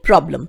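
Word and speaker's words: problem: यहां पर आर बोला जाएगा, ठीक है। ये मैंने आपको वहां एक्सप्लेन किया है उस प्रोनाउंसिएशन वाले वीडियो में, आप जरूर देखिएगा। सो समस्या के लिए क्या बोलेंगे, प्रॉब्लम।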